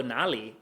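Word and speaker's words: 哪里: It's really important you don't mix these two tones up.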